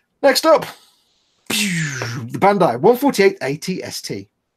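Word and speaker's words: AT-ST: So it's ATST, not all-terrain scout, some transport, I think. I thought it was always just pronounced at. No, ATST.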